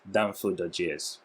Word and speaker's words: danfo.js: on, if I'm not mistaken-- how do we pronounce it? Is it danfo.js? RISING ODEGUA: Yeah, perfect-- danfo.js.